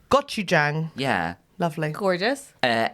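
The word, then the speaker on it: 고추장: It's a lovely woman who made a recipe for a very quick, creamy pasta, but it was flavoured with gochujang paste.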